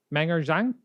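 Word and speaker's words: Meng'er Zhang: the respect that she deserves, how do we pronounce her name? It's MENG apostrophe ER Zhang. Meng Her Shang. Menger Zhang?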